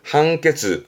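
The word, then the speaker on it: 判決: 판결, 한케즈, 한케즈. 판사군요.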